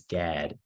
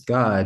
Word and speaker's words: Gad: You might read it as gad right, but in the Hebrew, it'd be pronounced as God.